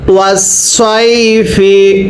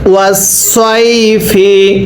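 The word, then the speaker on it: وَالصَّيْفِ: জবর সয়, ফাজের ফি, ওয়াসসাইফি। সবাই পড়েন ওয়াসসাইফি। আরো একবার ওয়াসসাইফি। আমি কিন্তু সদকে সদের মতো করে উচ্চারণ করছি, আপনি যদি সদকে সিন পড়েন তাহলে আর পড়াটা আপনার শুদ্ধ হবে না।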